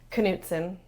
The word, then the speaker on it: Knutson: Knutson. It is, okay, the K is not silent. Knutson. Yeah. Knutson. So it's like you're on a canoe, add the T, and then a son.